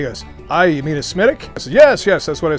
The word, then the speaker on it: Smithwick: i you mean a smithic yes yes that's what i said smitic so don't make an american fool out of yourself like i did although spelled smithwick they pronounce it smitic if you like that